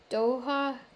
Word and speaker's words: Doha: the next one is doha see los angeles said keith i thought it was a long a it's actually a short a doha qatar doha to